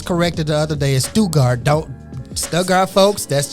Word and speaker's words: Stuttgart: if you're in Germany listening to us they pronounce a Stuttgart here but I I was corrected the other day as stugart don't stuck our folks that's just what they